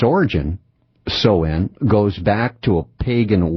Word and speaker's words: Samhain: Its very first name, Samhain, spelled S-A-M-H-A-I-N. Samhain, as it's pronounced. And it's kind of deceiving, isn't it? Because it doesn't look anything like it would be pronounced.